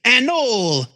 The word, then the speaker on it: Anole: It's just a knoll. It's a knoll.